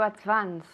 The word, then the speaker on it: advance: advance okay to advance be careful with that v v sound you have to move your vocal cords okay M do you know how to say this yes do advance advance advance very good and that c is like an S sound okay the next word